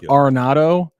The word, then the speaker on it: Arenado: parliamentary procedure sir um I know it's pronounced arado but when we shorten it isn't it NATO see this is my